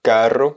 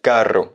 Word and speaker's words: carro: On va dire carro, un carro, donc C-A-2-R-O. Attention, avec le double R à bien prononcer, un carro, on insiste un petit peu plus.